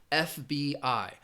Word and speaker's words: FBI: a different category because initialism is when you use the initial letters but you're going to pronounce them individually. You're not going to say it as one word. For example, FBI.